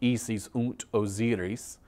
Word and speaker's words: Isis und Osiris: The German pronunciation will be Isis und Osiris.